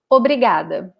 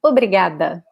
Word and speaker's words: obrigada: yourself as a man, you say obrigado. And if you're a woman, you say obrigada, okay? So just this last word here, last letter here differs, okay?